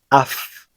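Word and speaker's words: אף: Fíjate que en palabras como anaf, que significa rama, af, que significa nariz, kesef, que significa dinero, y sof, que significa final, la P sofit se pronuncia como una F.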